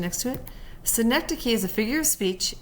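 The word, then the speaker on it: synecdoche: a sync and so we put the the pronunciation next to it sync key is a figure of speech in which a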